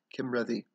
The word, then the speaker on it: Cymredd: so that way so the c is hard k like most celtic c's s's or s's believe god forbid right uh and then a double d sound is like a soft th so red instead of ready it's ready so kim ready kim ready there we go